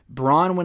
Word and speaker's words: Bronwyn: ] love brownies but her name is spelled b-r-o-n-w-y-n-e braun when i believe is how you pronounce her name they said it several